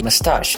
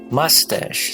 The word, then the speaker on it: moustache: this would be mustache so in uk they would say moustache they said concealable should be stressed meanwhile in us they would say mustache so the first syllable should be stressed oh the pronunciation would